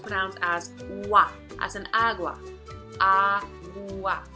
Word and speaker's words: agua: on app which brown as wat as an agua ah wah agua agua agua agua so the next step song